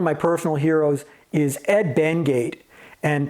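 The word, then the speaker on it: Benguiat: personal Heroes is Ed benate and people always mispronounce his name benju or Ben guat or whatever I did for a long time and I'm pretty sure it's benate so Ed created a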